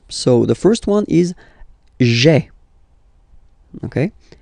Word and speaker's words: j'ai: Remember, when you combine this a, I, you get the e sound, okay?